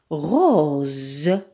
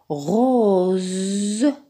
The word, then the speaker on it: rose: se prononce donc présent rose rose donc rose le s est placé entre deux voyelles le haut et le rose donc le S se prononce falaise falaise dans le